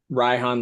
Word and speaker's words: Ryhan: It's uh it's like for those who haven't pronounced my name, it's uh Ryhan, like rye bread and Han Solo combined.